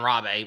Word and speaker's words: Rabe: Well, if you read Irish Chang's book, The Rape of Nanking, The Forgotten Holocaust of World War II, John Rabe was, or John Rabe, as some people pronounce, he was a Nazi